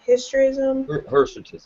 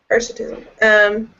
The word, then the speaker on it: hirsutism: Hysterism? Hirsutism.